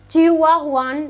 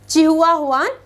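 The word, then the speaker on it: Chihuahuan: Okay, चलिए सबसे पहले चिहुआहुआन डेजर्ट की अगर हम बात करें, यू कैन गो फॉर the pronunciation. Okay, from my side it is said as चिहुआहुआन desert.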